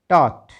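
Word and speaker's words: taught: TAUGST टॉट, GH silent है।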